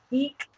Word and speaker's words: Ik: Anyway, so Eek is how you pronounce it.